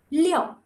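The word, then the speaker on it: 六: 6 is 4 tone and it's pronounced as Leo. Leo. If you remember IU in that Hindi chart, please keep that chart right in front of you right now. So Anki Achino, IU is EO.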